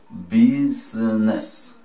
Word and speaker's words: business: Pero se nos complica más, entonces vamos a borrar la I, está delante de N.